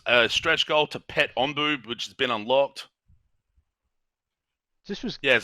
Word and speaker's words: Onbu: Onbu is how it's spelt. I think it's pronounced Onbu.